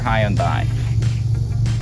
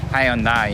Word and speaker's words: Hyundai: the Hyundai instead of Hyundai? But since I'm Korean, I can pronounce Hyundai like in Korean perfectly. But for the people who still know Hyundai as Hyundai, that's why I pronounce the Hyundai.